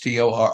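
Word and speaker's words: Chtorr: word my whole life c h t o r r Tor there's a little bit of a click in it so anyway yeah so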